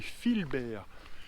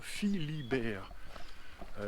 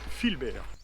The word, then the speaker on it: Philbert: saint philbert deschamps donc c'est philbert et non pas philibert c'est ce que je regardais sur la carte et j'avais plutôt commence à prononcer philibert mais pas du tout je ne pense pas est attendue sous estimé en regardant de plus près c'est bel et bien philbert après les choses sérieuses